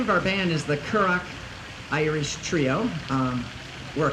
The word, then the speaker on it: currach: uh the name of our band is the kurak Irish Trio um we're a quartet today and